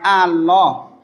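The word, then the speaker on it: الله: Nah, disitu mengucapkan Allah itu pakai tasdid, bukan Allah, tapi Allah.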